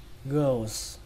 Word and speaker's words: girls: Các bạn đọc là girls, girls, và kết thúc bằng âm sờ hoặc là âm giờ cũng được.